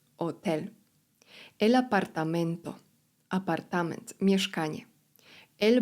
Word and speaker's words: hotel: El turista turysta la turista turyst pasaporte paszport El hotel hotel ponownie litera H jest nie ma. Otel, El apartamento Apartament, mieszkanie